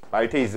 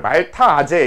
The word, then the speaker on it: 말테이스: 해볼게요 말테이스 말테이스 이게 말테이스 그든 그래서 옛날에는 이걸 말타아제 이렇게 부르기도 했습니다 비슷하게 옛날에는 아밀레이스 아멜라